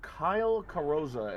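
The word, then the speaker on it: Kyle Carrozza: for those who are watching who don't know, a guy called Kyle Carosa.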